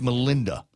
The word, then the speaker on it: Melinda: It is pronounced Melinda.